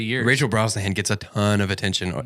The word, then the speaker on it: Brosnahan: Brosnahan.